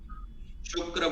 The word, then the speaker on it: शुक्र: शुक्रस्य, शुक्र बोलना है क्योंकि मात्रा जो है वो छोटी लगी हुई है, उस पे उकार जो है वो छोटा है, छोटी मात्रा लगी हुई है, इसलिए कम देर तक बोलेंगे।